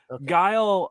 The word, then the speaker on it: Guile: it right this time guile guile why do I want to keep calling him gal all the time last one what's going on I don't know man guile uh does the sonic